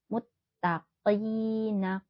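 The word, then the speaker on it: المتقين: memantul ya Innal muttaqina hati-hati jangan tertukar dengan huruf Kaf ya muttaqina qof itu hurufnya tebal muttaqina kasrah diikuti Ya Sukun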